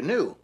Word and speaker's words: gnu: this big thing um you spell it gnu I guess this pronounced new but he called it the ganu and uh this silly